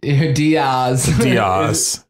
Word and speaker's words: Diaz: Diaz. That's actually the proper way to say it. Diaz. Yeah, but no one ever does, so it's actually become Diaz, I guess.